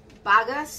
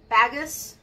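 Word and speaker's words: bagasse: just looked this up i think it's um bagas about baggis i looked it up specifically so i remembered and i didn't write it down phonetically so i apologize but it's b-a-g-a-s-s-e i think it was bug us bug ass i think okay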